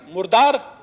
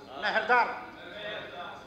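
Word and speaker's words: مردار: मुर्दार, मेहरदार नहीं, मेहर ये एम यू आर डी ई आर, मेहर हम भी लिख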